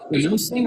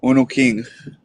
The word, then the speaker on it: Uno King: Hey, is it Uno Singh, or how do I pronounce the name? Uno King. Uno King.